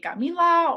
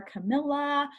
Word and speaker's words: Camila: I go by Camila or Camilla. Rhymes with vanilla, Godzilla, salmonella.